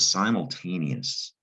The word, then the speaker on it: simultaneous: what simultaneous means but the other tricky part is this eos at the end that's also latin in origin in latin it's spelled e u s and it's pronounced yes